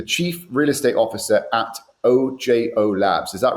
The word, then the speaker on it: OJO: the real the chief real estate officer at OJO Labs. Is that right, Chris? Ojo or OJ? Should I pronounce it?